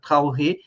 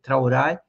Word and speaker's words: Traoré: Um deles é esse jovem, brilhante Ibrahim Traoré, Acho que a pronúncia do nome dele não é essa, é Traoré. Traoré é a pronúncia afrancesada.